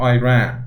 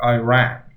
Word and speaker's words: Iran: Or Iran, it sounds like an E, but you would also write it as I, and it would become Iran, like you ran somewhere. I don't know why Americans say like Iran. What's Iran?